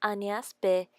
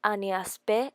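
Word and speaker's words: Agnès b.: Next brand I will talk about is Agnes B. It will be more elegant if you say Agnes B than Agnes B.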